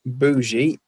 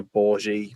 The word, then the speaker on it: bougie: Yeah, bougie is how I pronounce it. Also, bourgie, depending on whether you got the R in there or not.